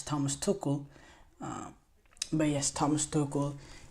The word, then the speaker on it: Tuchel: name wrong or some I always say Thomas Tel it's Thomas tokle um but yes Thomas